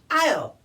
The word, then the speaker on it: I'll: as well what yeah I'll but it looks like ill no but it's a long I with apostrophe LL short for I will oh okay let's review